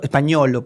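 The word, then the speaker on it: Spagnuolo: eh, el señor Diego Espanuolo, él es el señor españolo, para pronunciarlo bien, él es el señor de los audiofiltrados.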